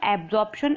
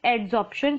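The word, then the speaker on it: adsorption: इट इज नॉट एब्जॉर्प्शन, इट इज एड्सॉर्प्शन, spelling correct है, तो आपको इसको इसी तरीके से याद रखना है।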